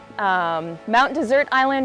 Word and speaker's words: Mount Desert Island: the first to explore the region and gave Mount Desert Island its name. When you take a look at the map, Mount Desert Island or Mount Desert Island, it's spelled like desert.